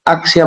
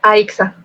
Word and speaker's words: Aixa: Hoy sabremos las confidencias en el tiempo de nuestra invitada de honor, Axia. ¿Qué tal, Axia? ¿Cómo te encuentras? Gracias por aceptar nuestra invitación. Aixa. Se pronuncia Aixa.